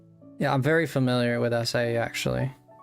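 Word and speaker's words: açaí: At least in Portuguese, that's how you say it.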